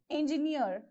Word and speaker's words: engineer: is engineer okay engineer so since it is saying last syllable you have to keep the stress mark on the last syllable engineer okay profiteer pioneer pioneer